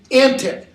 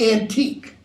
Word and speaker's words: antic: You've got a gloss there for antic, old-fashioned, and punning, and that would be pronounced in Shakespeare's day, antic, not antique. Okay? So that it puns on the word antic, like crazy.